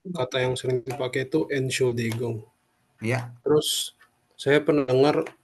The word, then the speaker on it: Entschuldigung: Entschuldigung atau biasanya dia langsung bilang Entschuldigung, langsung N-nya tidak diucapkan.